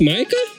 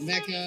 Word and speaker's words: Micah: Business, Micah? Yeah, Micah Art. You're like the first person to actually be able to pronounce that correctly. Yeah, very rare. Yeah, usually it's Mecca. A lot of people say Mecca.